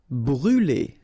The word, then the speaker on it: brûler: Brûler. Alright, so remember to write this circumflex on the top of U, but then you don't pronounce it, so phonetically it doesn't exist, and it's brûler.